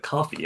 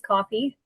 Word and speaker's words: Ko-fi: Is it coffee? I I never knew how to say it. I believe it is coffee. It's spelled very very strange. It's the um Ko-fi.